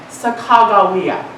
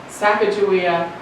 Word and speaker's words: Sacagawea: I pronounce her name Sakagawa. Sakajia. If you live in in South Dakota, it's Sakawa. I don't care how you pronounce it.